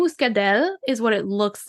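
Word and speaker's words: Muscadelle: and muscade mus mus it has two L's but an e at the end so we're gonna go muscadel is what it looks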